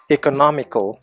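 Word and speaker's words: economical: அதே அட்ஜெக்டிவில் பார்த்தீங்கன்னா எக்கனாமிக்கல், மூணாவது சிலபிளில் தான் ஸ்ட்ரெஸ் வருது. எக்கனாமிக்கல், அந்த நா அப்படிங்கிற சிலபிளில் ஸ்ட்ரெஸ் கொடுக்கணும். எக்கானமி, எக்கனாமிக்கல்.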